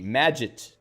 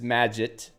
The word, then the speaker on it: Magit: It's pronounced like magic officially.